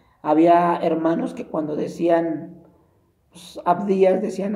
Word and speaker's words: Abdías: a pronunciar bien los libros, así como los pronuncie, así los va a decir. Había hermanos que cuando decían Abdías decían Adidas, o cuando decían Deuteronomio decían otras Deuteronomio, o